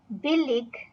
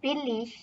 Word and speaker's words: billig: they are expensive, teuer, billig or billig, because words in German ending with ig can have the ig or the ish pronunciation.